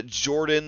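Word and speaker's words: Jorphdan: I was binging uh Jordan the p is silent and uh Mr Rex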